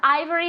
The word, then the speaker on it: ivory: good Ivory Ivory okay remember Ivory as if it were a i Ivory Ivory repeat very good